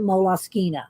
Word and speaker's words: Moleskine: want to say but i did look it up one day on the moloskina site and they'd had people pronouncing it and they pronounced it moloskina so don't email me